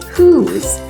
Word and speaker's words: whose: You may remember that when we counted the sounds in the word whose, we didn't say a sound for the letter E on the end. That's because the E is a silent letter.